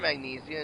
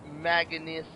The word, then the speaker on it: manganese: It's not magnesia, it's manganese dust.